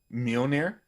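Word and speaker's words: Mjölnir: for um thor's hammer let me hear you pronounce it mjolnir yeah okay just making sure now i got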